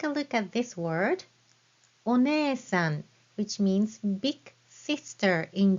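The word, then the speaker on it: お姉さん: So, お姉さん, you write it with hiragana e. You don't have to write it with I. お姉さん is spelled as you hear it with hiragana e for that prolonged e sound.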